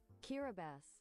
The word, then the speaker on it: Kiribati: Kiribati.